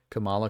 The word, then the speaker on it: Kamala: um his candy Kink you like her because your name rhymes with koala Kamala koala hey it does